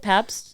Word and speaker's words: Pabst: Pabst? Pabst Blue Ribbon.